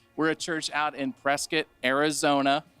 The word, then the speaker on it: Prescott: a church out in prescott arizona that's spelled like prescott but it's prescott that's how we know you're from here if you say it like prescott and we are all